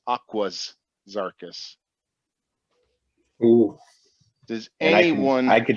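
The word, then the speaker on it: Aguas Zarcas: for a little while i've been saying agua circus but there's an s on the end of it aquas oh thank you yeah i think i think a few of us have either repeated it or just been saying it wrong but it's not aqua zarkis it's aqua's circus oh does anyone i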